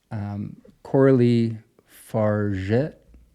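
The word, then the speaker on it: Coralie Fargeat: And I even looked up how to pronounce her name correctly. She's French. Coralie Fargit, somewhere like that.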